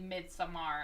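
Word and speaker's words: midsommar: yeah we say so normal people would say midsummer but when you listen to the Swedish people say they're saying with some are they don't say it like that either like they all say mid some I'm pretty sure it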